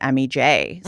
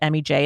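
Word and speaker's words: Emi Jay: what I am most interested in is the MEJ. So, tell me, what have you got over there? So, if you guys aren't necessarily familiar with MEJ, it's spelled E M I and then J A Y.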